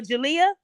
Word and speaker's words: Jalea: Is it Jalea? Yes, ma'am. Yeah, I said it right. Hi, Jalea.